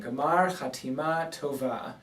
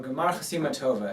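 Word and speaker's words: גמר חתימה טובה: Gemar Chatima Tova, or Gemar Chasima Tova, if you do it quickly with a more Ashkenazi pronunciation.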